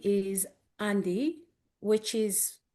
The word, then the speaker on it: Dii: So when it comes to d you have to add an n at the beginning or when it comes